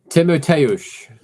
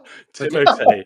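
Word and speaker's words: Tymoteusz: Timoteusz. So I wasn't far. No, you weren't far off. No, you weren't. Like a good shampoo. Like a good shampoo. Yeah. Timotei, yes.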